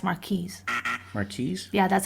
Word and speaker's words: Marquis: Yeah, it's Marquis.